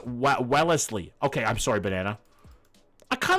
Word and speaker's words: Wellesley: Wesley is pronounced Wellesley.